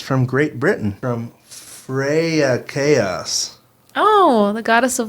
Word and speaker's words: Freya: It's entitled Endearing Duo, and it's from Great Britain, from Freya Chaos. Oh, the goddess of love in Norse mythology. Cool. Oh, did I say it right? Freya, yeah.